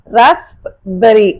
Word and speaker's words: raspberry: raspberry, raspberry அப்படின்னு சொல்ல மாட்டோம். raspberry. cupboard, cupboard அப்படி கிடையாது, cupboard.